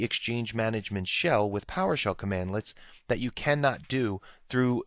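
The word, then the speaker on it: cmdlets: now PowerShell commands are built using commandlets so that's how you pronounce that commandlets and you'll see that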